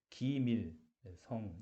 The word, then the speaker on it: 기밀성: 김일성. 이거 발음을 잘못하니까 김일성으로 들리더라고. 네, 제가 좀 조심해야 될 것 같아요. 그래서 기밀성 이게 잘 유지가 안 돼서 게시어스 피션 프로덕트가 질질 새는 것 같아요.